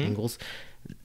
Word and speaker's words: Engels: And then you'll see, you know, if you look at Marx's writing and the Engels brothers, that's how their name is pronounced, right? Mm-hmm. Engels.